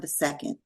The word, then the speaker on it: II: time off today to speak to II. Did I pronounce it correctly?